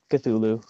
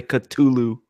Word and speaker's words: Cthulhu: delay oh okay how would you pronounce the Cthulhu that's pretty much just the way you did get to Lou okay cuz I've heard some people say cut to Lou yeah I think that's incorrect yeah just that doesn't make any sense cuz there's a th sound but anyways yeah so